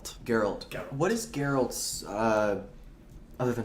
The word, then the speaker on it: Geralt: Geralt. Geralt.